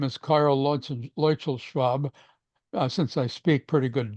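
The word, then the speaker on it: Luetzelschwab: His name is Karl Leuchel-Schwab. Since I speak pretty good German, I can pronounce his name. Leuchel-Schwab.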